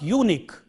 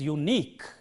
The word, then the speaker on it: unique: We have another pattern of words ending in QUE, and this is, let us take 2 syllables in this word, you and Nick. The stress is on the last syllable in words like this. So the way of pronouncing it correctly is unique. It is not unique, but it is unique.